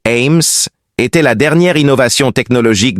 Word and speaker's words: AMHS: Le système d'habitation d'urgence multi-espèce adaptatif AMHS prononcé AIMS était la dernière innovation technologique de l'empire zaien.